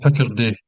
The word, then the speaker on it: Picardy: It's called Picardy, Ah, Picardy Piccadilly. Place. See, people know the Nicholson or Andy N pronunciation skill is crap as Yeah, always.